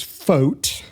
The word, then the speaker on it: Foucht: I said, his last name is Foucht, rhymes with boat.